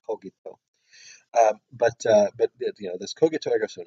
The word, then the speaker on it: cogito: Or the people pronounce it the modern sophagy. The Romans would have pronounced it cogito.